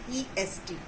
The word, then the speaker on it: honest: letter, which is saying Honest. But when we pronounce it, it is saying honest man. Here H is silent.